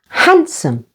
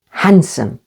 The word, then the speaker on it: handsome: Handsome. Again, with the stress on the first syllable. Handsome. And landscape.